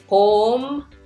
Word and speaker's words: 봄: Mium as a final consonant is still M sound. So this whole syllable is 봄.